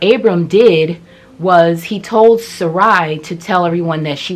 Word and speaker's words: Sarai: He married a woman named Sarai. So I guess that's the pronunciation before her name gets changed to Sarah. God later changes her name.